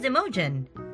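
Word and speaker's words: Imogen: united kingdom this is a girl's name and pronounced as emojin the name is of celtic origin and means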